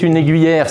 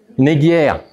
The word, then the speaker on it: aiguière: C'est une aiguillère. C'est c'est un une aiguière. Je le prononce mal.